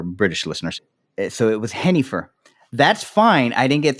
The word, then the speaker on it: Jennifer: He called her Hennifer, not Jennifer, because that's the English way to pronounce Hennifer. Now, growing up, the Jennifers I knew were called Yennifers. Sounds with the Y.